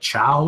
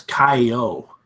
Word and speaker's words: ciao: I always used to think it was Kai-O, but I think it's pronounced chow, Sure. isn't it?